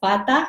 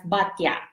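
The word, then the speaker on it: Baťa: I think in the Philippines we also have that, but we pronounce it as Bata. But in the Czech, that's actually originally from the Czech, which you pronounce it as Batya.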